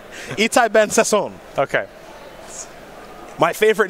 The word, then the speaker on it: Sasson: I will correct you, sir. Repeat after me. Sasson. Sasson. Yes. It's fun to say. Sasson. Excuse me. Sasson's too easy. It's like Sasser. Boring.